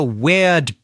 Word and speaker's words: weird: He's got a weird beard. Same pronunciation there.